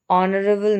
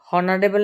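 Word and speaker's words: honorable: কি ই দিয়ে শুরু হচ্ছে এখানে N next অনারেবল ম্যান অনারেবল ম্যান অনারেবল হারেবল না কিন্তু উচ্চারণটা কি হচ্ছে অনারেবল মানে ওর উচ্চারণ হচ্ছে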